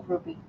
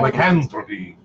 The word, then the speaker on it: lycanthropy: But if you get, like in Groupie, I said that wrong. I'm terrible. Lycanthropy. Okay, that's how you say it.